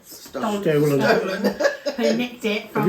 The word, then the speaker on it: Stollen: So up next we've got apple mini Stollen bites from Aldi. Right. Stolen bites. Stollen, yeah. How'd you say it? Well, I think it is Stollen, but we call it Stolen.